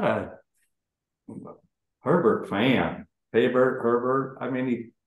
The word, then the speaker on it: Herbert: him 18 different things how do you pronounce his name so I pronounce it right Herbert Herbert like like Sherbert Herbert okay um university I